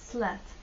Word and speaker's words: slat: Слово slat, планка, дощечка, также близко по звучанию, но в данном случае у нас звук э, slat.